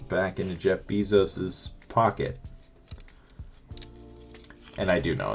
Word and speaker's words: Bezos: money is just going right back into Jeff bezos's pocket and I do know it's pronounced Bezos I just like to say Beezus it's more fun to say and I hate